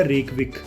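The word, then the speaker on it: Reykjavík: इसके middle of the spellings में जे आता है जो कि साइलेंट है, इस चीज़ का आप ध्यान रखना।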